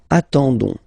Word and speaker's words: attendons: nous, so ons, okay, you don't pronounce the s, so you get only this on sound, okay. Attendons, nous attendons, so we'll make the link between the two, la liaison.